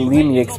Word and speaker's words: Lemieux: I swear I always want to say David Lemieux, but it's pronounced Lemieux.